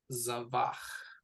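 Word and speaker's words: זבח: which syllable goes to stress. It's the final one.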